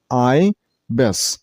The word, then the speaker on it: ibis: This word has two syllables, ibis. The second syllable isn't pronounced as bis, it's a little bit a sound, so bis, bis, not bis. Stress on the first syllable, I mean on I sound, so ibis, ibis.